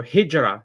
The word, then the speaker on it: hijra: So hijra that's how we pronounce it.